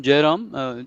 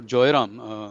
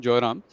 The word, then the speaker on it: Jairam: And specific to your question, Jairam, or Joyram, sorry, I mispronounced your name, Joyram.